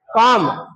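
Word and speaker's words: calm: काम इसमें L silent जाता है। आगे हम एल का जब पढ़ेंगे तो पता लग जाएगा एल साइलेंट कब रहता है। ये क्या है? काम। काम मतलब का की ध्वनि लंबी आएगी। इसको पढ़ेंगे। ऐसे पढ़ेंगे। इसका मतलब होता है आ की साउंड को लॉन्ग खींचना। लंबी खींचना। काम एल साइलेंट रह जाएगा।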